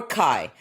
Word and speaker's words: CAIE: the US under the ticker C AIE which Calamos pronounces as Kai.